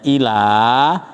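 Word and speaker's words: إلى: illa apa illa Pak kecuali kalau ada tasdidnya illa itu artinya kecuali Tetapi kalau enggak ada tasyidnya bacanya Ila itu artinya Kepa kepada ilahikum kan ilaihim kan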